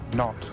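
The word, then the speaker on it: knot: Gary, which word beginning with silent K is used for the speed unit of one nautical mile per hour? Not.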